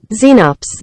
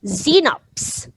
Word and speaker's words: Xenops: pronounce that word let's listen to that again xenops xenops that's how you pronounce it so let's cover it how do